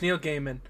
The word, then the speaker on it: Neil Gaiman: of I've never learned how to pronounce it. It's either Neil Gaiman or Neil Gaiman. It's Neil Gaiman.